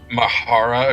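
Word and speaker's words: Mhaura: or something no it's it's just the word aura with mh at the start and the h is silent i'm not at least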